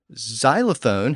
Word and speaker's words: xylophone: is easier to pronounce so xylophone has a z sound at the front instead of a traditional X sound and Xerox has two